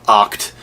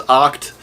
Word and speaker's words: OCT: Bravo, OCT and Kyle Gordon on Company Time, Oct. I heard Luke actually pronounce it as Oct, so I don't know why I keep saying OCT.